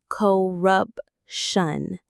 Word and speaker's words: corruption: There is that shun sound again. The stress is right in the middle. corruption.